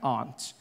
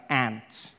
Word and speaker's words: aunt: For instance, I pronounce the opposites of uncle as aunt. I say my aunt. out here. You say my aunt, which to me is an insect, which made me look